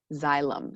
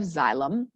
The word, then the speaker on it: xylem: The first one starts with an X, and it's actually pronounced like xylem. So it starts with a Z sound. So we have xylem, and then the second one starts with a P, but it's a PH sound.